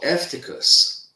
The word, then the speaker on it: Eutychus: And Eutychus, or Eftychus, as properly pronounced, it means of good fortune.